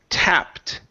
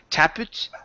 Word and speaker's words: tapped: here is the word tapped okay same thing with flipped okay and on the T instead of tap it okay it's tapped tapped ta good good one